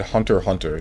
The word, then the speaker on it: Hunter x Hunter: back up we go it's meant to be said Hunter Hunter the x is silent but we westerners are